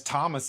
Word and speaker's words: Thomas: Well, I guess Thomas is the same any like you know that's how we pronounce that without the th.